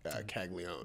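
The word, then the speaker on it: Caglianone: her name is Jack kagon yep I've heard the name it's spelled kagoni yeah but we all know it's not how you say it what was your first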